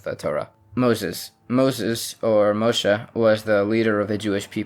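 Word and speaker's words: משה: For instance, Abraham instead of Avraham, Isaac instead of Yitzchak, Esau instead of Esav, Moses instead of Moshe, etc.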